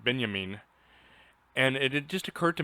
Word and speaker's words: Benjamin: i had to cr pronounce it benyamin and it just occurred